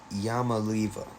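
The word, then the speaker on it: Iamaleava: of a last name so apparently it's Neo yamala yamala okay all right now I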